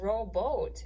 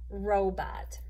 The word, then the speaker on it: robot: closing off this o it's not row boat it's row but because the t closes off that second o doesn't it robot and in our last